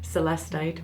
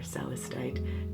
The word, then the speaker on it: celestite: Currently, I think my favorite stone is celestite or celestite, depending on how you prefer to pronounce.